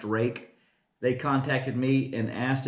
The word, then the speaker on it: Ruike: into these knives this company rake Rui ke pronounced rake they contacted me and